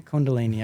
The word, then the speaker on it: Kundalini: I'm saying it right candini or calini Kini Kundalini okay that's how you say it but I